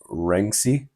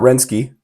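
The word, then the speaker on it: Renkse: Their lead vocalist is named Jonas Rensky, not Rensky, because then that would be Polish, and he's not Polish, or maybe it'd be Russian. He's neither of those. Rensky.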